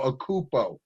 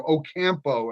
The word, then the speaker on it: Ocampo: of his friends, Armando Ocupo. And because I brought up Alvin's name because he's a loyal listener, Ocampo, actually, the correct pronunciation.